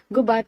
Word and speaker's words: Gubat: Gubat is pronounced with the accent of the second syllable.